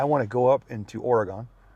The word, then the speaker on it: Oregon: I mean, I want to go up into Oregon. Oregon.